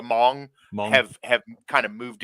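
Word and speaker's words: Hmong: I'm gonna mispronounce this the Hong Hong you don't say the H the Mong have have kind of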